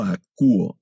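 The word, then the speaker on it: ἀκούω: Y también observen que el tema verbal tiene un diptongo que se pronuncia como U. No leemos akouo, sino solo akouo. Este diptongo se lee U, el verbo akouo.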